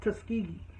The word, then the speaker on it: Tuskegee: says well can I just tell you it's pronounced Tuskegee and those type of things when she comes